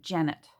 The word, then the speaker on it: Jeanette: great grandmother was um her name was spelled jeanette but the family pronounced it janet um and even when